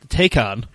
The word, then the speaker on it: Taycan: something yeah anyway the Porsche how do we pronounce this take on take on yes the take HOD turbo and Turbo S